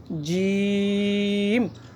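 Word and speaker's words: ج: সা এরপর হচ্ছে জিম।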